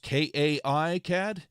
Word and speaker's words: KiCad: something so exciting um Marcel is giving his opinion on how it's pronounced k-a-i CAD is that Kai yeah I guess that would be so that would be kai-cad yeah